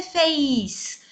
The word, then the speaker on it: fez: singular você ele ela no brasil nós pronunciamos você fez mas não tem ir a escrita correta fz ela fez tem esse som de que não aparece na escrita e atenção ao verbo